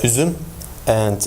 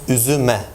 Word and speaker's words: üzüme: But when we have like the dative case, it becomes üzüme. It's not üzüma.